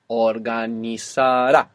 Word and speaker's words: organizará: So the useful thing about the accent being on this ending is that we don't have to worry about where the accent goes when we're pronouncing the whole verb. Organizará on the end.